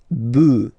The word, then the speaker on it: bœufs: just add this S, but then pronunciation changes quite much because you get des bœufs, all right, un bœuf, des bœufs, all right.